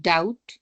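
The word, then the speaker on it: doubt: जी इट्स veg table B must not be heard and डाउट death and डम both leave it आउट सो डम के एंड पे भी बी is silent and then we हैड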